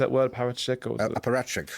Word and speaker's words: apparatchik: Parachik? Or Apparatchik. Apparatchik.